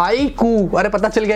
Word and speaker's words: iQOO: ना, उसका सब ब्रांड IQOO, फाइनली हम उसको प्रोनाउंस कर सकते हैं IQOO।